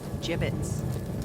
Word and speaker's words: gibbets: It's pronounced gibbets.